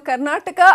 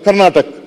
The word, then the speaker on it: ಕರ್ನಾಟಕ: ಇನ್ನು ಕರ್ನಾಟಕ ಅನ್ನೋ ಪದವನ್ನ ಸರಿಯಾಗಿ ಉಚ್ಚಾರಣೆ ಮಾಡದ ಸಚಿವ ಪ್ರಭು ಚೌಹಾಣ್ ಅವರನ್ನ ಕೂಡ ಕಾಲೆಳೆದ್ರು ಸಿದ್ದರಾಮಯ್ಯ.